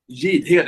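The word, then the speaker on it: Jidhed: j yeah Jim jhead Jad it's yeah it's a hard Jad sounds like that Jad yeah and funny enough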